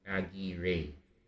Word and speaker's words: Aguirre: It's generally pronounced here in Spanish, and I believe it comes from Basque country specifically. Okay, that's actually super weird. I regret playing that one. But it does say Aguirre, something to that effect.